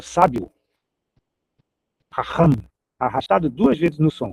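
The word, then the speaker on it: חכם: Outra palavra eh bem o empregada na Bíblia, raham palavra que tem uma pronúncia difícil pro brasileiro, né, que é arrastado duas vezes. Raham. Ram, mas o significado dela é maravilhoso, é sábio. Ramham, arrastado duas vezes no som.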